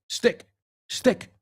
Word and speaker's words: stick: It's like when you're in your pblo and you're yelling to your friend, hey, stick stick rhymes with sick.